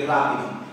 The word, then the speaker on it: rápido: dos ejemplos matrícula y rápido y como podemos ver la sílaba fuerte o sílaba tónica es la antepenúltima matrícula y rápido es